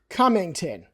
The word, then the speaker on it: Cummington: Cummington. Yep. Okay. So this is not a hard one to pronounce.